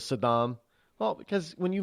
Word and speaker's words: Saddam: George Herbert Walker Bush used to say Sadam instead of Saddam well because when you